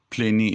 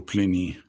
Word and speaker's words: Pliny: Pliny the Elder, Pliny is spelled P-L-I-N-Y, Pliny the Elder described her as a Regina Meretrix, M-E-R-E-T-R-I-X.